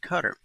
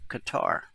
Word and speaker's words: Qatar: any armed attack against Qatar. Now, you may pronounce that Qatar, but I know someone who lived there and they said it really is pronounced Qatar by the locals.